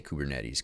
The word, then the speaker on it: Kubernetes: How do you say Kubernetes?